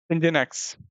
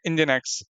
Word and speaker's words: Nginx: मैं आपको बता दूं इंजन एक्ट को हम प्रोनाउंस करते हैं कुछ ऐसे इसको हम बोलते हैं इंजन इंजन एक्स ओके इसको हम बोलेंगे इंजन एक्स अब ये होता क्या